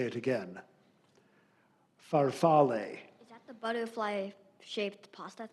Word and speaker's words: farfalle: The pronunciation, the first pronunciation has the long A at the end, farfalle. Alternate pronunciation, farfalle.